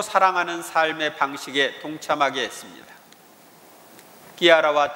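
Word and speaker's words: Chiara: 본래 세례명은 실비아이지만 아시시의 글라라 성녀가 급진적으로 하느님을 선택한 것에 매료되어 클라라의 이태리 발음인 끼아라를 사용하게 되었습니다. 클라라를 끼아라라고 이렇게 이태리에서 부르는 겁니다.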